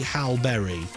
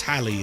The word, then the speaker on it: Halle Berry: ken says fun fact mr scott did say hal berry it is halley is it i don't care about